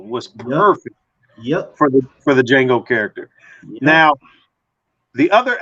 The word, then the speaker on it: Django: Django. As he say, it's DJANGO, and the D is silent.